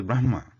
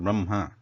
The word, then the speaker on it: Brahma: saw just now that the Hikari when it is compounded with any other sound is always comes first so in this case it is grandma not Brahma so if it is